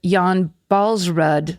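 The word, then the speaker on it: Jan Baalsrud: I loved listening to Karen's telling of the Jan Balsrud survival. That's how you're supposed to pronounce it.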